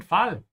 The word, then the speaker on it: Fall: And for all of you native English speakers out there, please pay special attention to the sound of the a. Don't pronounce it like an English fall. Ja, Fall.